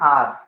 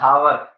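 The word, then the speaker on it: hour: पढ़ते इसको इसको आर पढ़ा जाता है वन आर ना कि वन ववर खतरनाक इंग्लिश सिखाते हैं आजकल स्कूलों में है ना this is नॉट अ वन हावर this is वन आर भाई ए साइलेंट होता है तो ये लिखा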